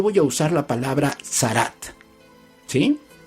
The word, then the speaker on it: Tzarat: Se escribe con T de Tito, Z, A, R, A, T de Tito.